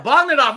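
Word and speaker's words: Bogdanove: Yeah, Bogdanov. We said it right. We were saying it right the whole time, Tony.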